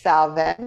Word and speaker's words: Samhain: ideas so everybody remember it's samhain however you spell it however you say it and it's salven because i am scots so we say it a little bit differently scott's gaelic so check